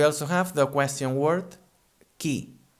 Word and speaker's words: qui: We also have the question word qui. Qui. Qui is spelled Q-U-I, en català Q-U-I. And again, the U here doesn't sound, we'd say directly qui.